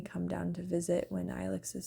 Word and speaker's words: Ilex: Anyway, but yeah, and so our baby's name is Alex Rain, and his name is a real word.